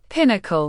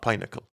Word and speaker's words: pinnacle: Uh pinnacle pinnacle. Yeah, not pineacle.